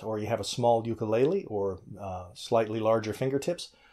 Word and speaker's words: ukulele: 101 easy ukulele solos or to give it the Hawaiian pronunciation 101 easy ukulele solos my first tip on